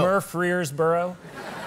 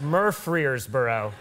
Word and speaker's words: Murfreesboro: early 20s, I was doing this show in Murfreesboro, Tennessee. No. Murfreesboro. I'm pronouncing it correctly. Okay. I'm not mispronouncing it. You're not, That's no. That's how it's pronounced. That's a place. Murfreesboro.